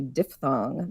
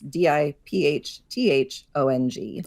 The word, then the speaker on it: diphthong: the sound I is technically called a diphthong that's d-i-p-h-t-h-o-n-g often mispronounced as diphthong which just sounds much cooler it sounds like some